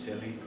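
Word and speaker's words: Cillie: This is Silly. This is the dragon that you believe you saw, and my friend. Silly, by the way, is spelled C-I-L-L-I-E, but pronounced Silly.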